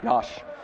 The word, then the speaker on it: Yash: I would have pronounced it exactly like Yash. you did. Yash.